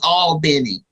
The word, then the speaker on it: Albany: I'm from a near Albany Georgia so and I say it properly all Benny Georgia and as well as